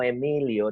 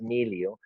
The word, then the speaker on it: Miliau: It took me an entire course to just to learn to say that was no Emilio, that was Milio.